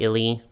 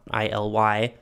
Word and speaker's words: Illy: for some future Disney Illy apparently they are pronounced illy and not ILY but for right now